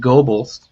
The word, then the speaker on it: Gobles: So there's actually a little town called Gobles, which is spelled almost like gobbles, but with one B.